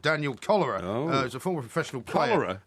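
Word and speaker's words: Köllerer: Cholera, not as in the disease. I was going to say, It's spelt with a K and two L's and an ER at the end, but it's pronounced cholera.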